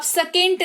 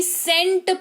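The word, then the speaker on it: scent: बात करते हैं तो जब भी किसी शब्द में एस के बाद तुरंत तुरंत बाद सी लगा हुआ हो तो इन दैट केस सी जो है वो साइलेंट रहता है। जैसे कि इस वाले को आप सेकेंट नहीं सेंट पढ़ते हैं।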